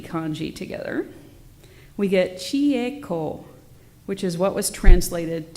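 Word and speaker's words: 光: This particular kanji for light is often seen in Jodo Shinshu texts and is pronounced ko.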